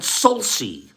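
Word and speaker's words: sulci: and then the valleys the folds are called salsi s-u-l-c-i they never heard the word before some of me correct my pronunciation salsi oil salties injuries that are creating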